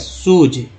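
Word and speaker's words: shoes: जैसे एस एच ओ ई एस, सूज, ये से ज होगा।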